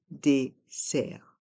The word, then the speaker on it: dessert: le dessert le dessert ici le r reste en suspend et le T est mué le le dessert le dessert une carafe